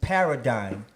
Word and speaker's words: paradigm: The title of the project, Paradigm.